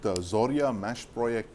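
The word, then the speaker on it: Zorya-Mashproekt: end of the absolutely the joint venture with zorya mash project as it's pronounced the Ukrainian company that powers like literally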